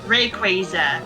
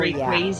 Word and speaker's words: Rayquaza: thing about it is part of the name is based on Quasar. Oh, therefore Rayquaza. Yeah. I used to call it Rayquaza, but now it's like, you know what? After calling it Rayquaza so many times, I'm used to it.